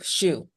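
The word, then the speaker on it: Siu: first name, I see it's Shu. on the screen. First name is spelled S-I-U, Shu.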